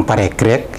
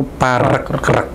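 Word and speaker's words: Paregreg: Jadi kita tahu bahwa setelah perang Parekrek yang biasa dibaca orang Parekrek ya, itu sebenarnya itu membacanya itu Parekrek.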